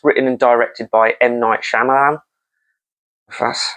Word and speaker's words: Shyamalan: trap which is written and directed by ight shamalan that's how you say his name ight shy alaman I think that's it I think I'm just